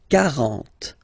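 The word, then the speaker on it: quarante: Okay, so same rule as previously, as for quatre, okay? K, 40, 40, okay?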